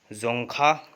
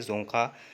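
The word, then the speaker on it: Dzongkha: तो भूटान की आधिकारिक भाषा है जोंगखा। डी इसमें साइलेंट होता है, जोंगखा।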